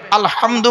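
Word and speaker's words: الحمد: আলহামদুলিল্লাহি রাব্বিল আলামিন আলহামদু গলার ভেতর থেকে এটা উচ্চারণ করবেন আলহামদু মানে হলো সমস্ত প্রশংসা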